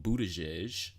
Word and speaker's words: Buttigieg: With that being said, about presidential nominees, current presidential nominee Mayor Pete Buttigieg.